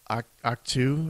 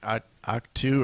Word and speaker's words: Ahch-To: It's spelled AHCH-TO. It's like Act 2 or Act 2 or something.